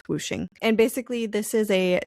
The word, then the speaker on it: Wuxing: There's also this system of elements, which is called whooshing. It's spelled like wuxing though. It's Wuxing, but it's pronounced whooshing.